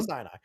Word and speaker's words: Sinai: it was like it's Sinai. It's Sinai, dude. Like are you blind? You're such a Christian, but you don't know Syinai. That's like Mount Si. You don't know Sinai.